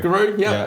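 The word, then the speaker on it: Giru: So you are born in Guru, am I pronouncing it? Guru.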